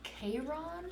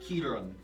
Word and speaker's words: Kieran: And is it Kairon? Kieran. Kieran. Say it like you're Kieran? Welsh. Say Kieran like you're Welsh.